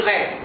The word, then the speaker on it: très: Ici, j'ai dit très, pas très. Le mot, c'est-à-dire la lettre S ici ne se prononce pas.